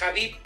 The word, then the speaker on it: Habib: El término o la pronunciación correcta es Habib, pero también el Habib es válido.